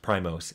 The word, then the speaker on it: PRIMOS: the band or Primus or whatever but it's pronounced Primos and it was on their Prime computers so